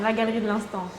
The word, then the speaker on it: La Galerie de l'Instant: So Camille, tell me a bit about La Galerie de l'Instant, if that's how I pronounce it. Yeah, that's fine. La Galerie de l'Instant.